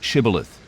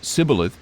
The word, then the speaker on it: Shibboleth: If he answered no, they told him, Please say Shibboleth. If he said Sibboleth because he could not pronounce it correctly, they seized him and killed him at the fords of the Jordan.